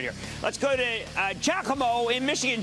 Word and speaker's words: Giacomo: Let's go to Giacomo in Michigan. Giacomo. Hey, Jim. You pronounce it right. Giacomo, G-I-A-C-O-M-O.